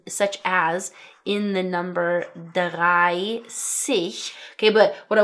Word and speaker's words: dreißig: Pronunciation wise, it simply makes an 's' sound such in such as in the number 'dreißig' (30), okay, but what I want to point